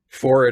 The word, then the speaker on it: forehead: Yes, that's actually my favorite nursery rhyme because I love that they rhyme forehead with horrid. Forehead and horrid, yeah. Forehead. Yeah, I know, Genius. but it's pronounced forehead Wait a minute.